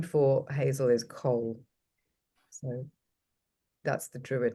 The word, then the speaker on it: Coll: So So you're saying coal, as in COAL. I think no, it's a Yeah. regional accent thing. Yeah. yeah, absolutely. I don't really have an accent though, but yes, it's Cole.